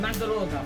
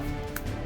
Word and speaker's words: Mandragora: Then, I'll normal summon Evilswarm Castor then I'll special summon Mandaroga (ManDRAGora) from my hand.